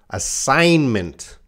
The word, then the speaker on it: assignment: So Grace's example here, assignment. The G is silent.